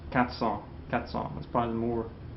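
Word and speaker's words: quatre cents: Speedy natural speech um if we have cat Follow by a consonant sound I think you hear most French people won't pronounce that R okay you hear katong okay what it's a vow coming after like like four students or 4:00 okay The Vow comes next you hear that R but consant comes after it tends to be dropped okay that's why I pronounce katson katson that's probably the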